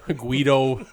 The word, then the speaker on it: Guido: Guido rhymes with weirdo.